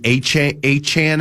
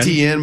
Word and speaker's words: Etienne: It's why they were in on Travis I think he pronounces last name Achan at this point Etienne but he he says he pronounces name differently.